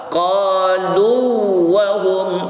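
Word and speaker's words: قالوا وهم: Kalau dilihat dari sisi harokat makhraj, dia mutamas lain, namun cara bacanya tetap dibaca dengan izhar, bukan idgham. Jadi perhatikan hati-hati ya. Qalu wa hum, qalu wa hum, qalu wa hum. Tidak boleh qalu, tidak boleh diidghamkan.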